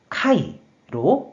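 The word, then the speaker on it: 械: 그래서 기계개가 되었고 음으로만 카이로 발음한다고 설명드렸어요.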